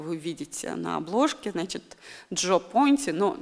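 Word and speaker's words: Gio Ponti: И вот прекрасный этот персонаж, этот мужчина, которого вы видите на обложке, значит, Джо Понти, но Джо – это такое, знаете, немножко американизированное сокращение имени Джованни. А Джо Понти, да, пишется Джио, один из крупнейших итальянских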